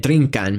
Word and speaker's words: drigkan: Q, as in bringan meaning to bring, and drinkan meaning to drink.